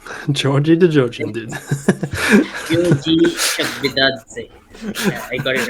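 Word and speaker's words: Giorgi Chakvetadze: pronounce Georgie the Georgian dude. Georgie Chakvidadze.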